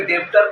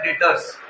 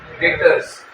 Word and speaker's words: debtor: बहुत कोई डेब्टर पढ़ता लेकिन उच्चारण होता है डेटर्स। क्या बोलेंगे? डेटर्स। याद रहेगा?